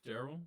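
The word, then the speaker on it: Darrell: I'm pretty sure it's pronounced Daryl.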